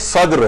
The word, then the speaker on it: صدر: صدر جا رہا ہوں، صدر نہیں، یہ صدر ہے، صدر دال کے اوپر جزم ہے۔ تو اچھا لوگ انگلش